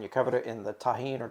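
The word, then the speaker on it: Tajín: It's a J, and I presume it's pronounced in Spanish, so I say it that way.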